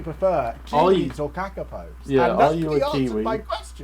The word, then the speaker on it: kakapo: How do you even pronounce that, Chris? Come on, help me out. Kakapo.